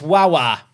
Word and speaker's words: Guagua: Darling Guagua is from Guacquil, my favorite starter Pokemon, where his name is pronounced Wawa.